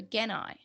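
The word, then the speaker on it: Gennai: Also, something I found interesting is that Azulongmong, so in the dub, he says Jedi, but he pronounces it like the original does with a hard G, so Genai.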